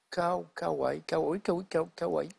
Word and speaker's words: Kauai: J'espère que j'ai bien prononcé l'île. D'ailleurs. C'est l'île de Kauai.